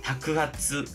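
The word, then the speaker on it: 托鉢: " 타쿠 하츠 " 또는 " 에하츠 " 로 발음 됩니다 .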